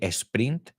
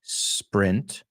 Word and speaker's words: sprint: you you use it I just want to make sure you don't say Esprit and you say Sprint is Sprint Sprint no s print the fifth one is